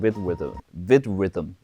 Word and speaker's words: VidRhythm: And it was with an app called VidRhythm.